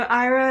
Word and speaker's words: Aira: Yeah, so Ira is it's a visual interpreting service. So they so what you do is if you have an iPhone or Android, you can download the Ira app. It's spelled AIRA, and what you do